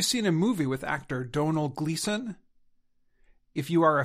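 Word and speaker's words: Domhnall: wrong the right way to say it is Donal in fact their names are among the most mispronounced names of 2022.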